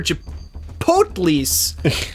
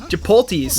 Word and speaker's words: chipotle: Do you say Chipotle or Chipotles? Chipotles. Neither. I say it the correct way. Our good friend Anna would know how to say it. Chipotle, she says.